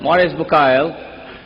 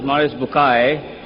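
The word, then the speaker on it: Maurice Bucaille: a scholar of Quran Dr moris buk pronounced as moris buai am I right Dr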